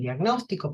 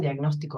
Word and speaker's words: diagnóstico: un retraso en el diagnóstico Perdón diagnóstico va con acento en la o Entonces el paciente persiste